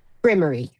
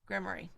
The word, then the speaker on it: grimoire: How do you pronounce it? Granny's grimoire grimoire.